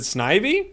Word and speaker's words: Snivy: um here's what I'm thinking a gold leaf Snivy has a comment about uh conefe that people